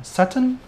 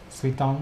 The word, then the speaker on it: Suiton: How do you pronounce this guy now? Saturn? Suiton.